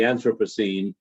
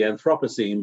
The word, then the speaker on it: Anthropocene: matters of the anthropocene also pronounced as the anthropocene but I have a personal preference for the anthropo the anthropocene pronunciation because after all we say anthropology anthropogenic anthropomorphic but the in Britain it seems to be that the preference pronunciation is anthropocene so I I think either a fine and I'm trying to